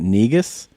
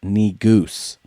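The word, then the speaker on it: negus: spelling bee is saying negas according to this video it's correctly pronounced knee goose but so he was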